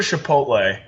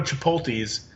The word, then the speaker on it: Chipotle: I could go to Chipotle. Let's say if I go Wait. Did you just pronounce it Chipotle? How do you say it? Chipotle. Chipotle. No, it's It's a CH, not an SH.